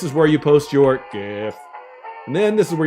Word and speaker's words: GIF: Yes, the way it's pronounced is definitely GIF.